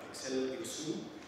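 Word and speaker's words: Axel Hirsoux: So actually, you don't pronounce the H at the beginning. Axel Iksu.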